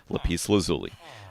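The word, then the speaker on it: lapis lazuli: Yes, that's how to say it. Lis lazuli.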